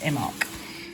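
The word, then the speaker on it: Imbolc: of fiery colour because um the festival of immok falls on this on the 2nd of february and is pronounced imac it is reflected in christianity as the festival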